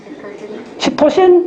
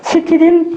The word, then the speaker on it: 시티딘: 그 다음에 시토신이 오면, 시토신 트리포스파이드. 예, 그렇게 발음 안 해요. 시티딘 트리포스파이드. 좀 달라요.